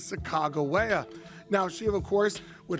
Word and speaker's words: Sacagawea: Now, most kids pronounce it Sacagawea. The correct pronunciation is Sacagawea.